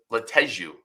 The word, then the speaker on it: Lateju: Let's talk a little bit about Samuel Lateju is how you pronounce the last name.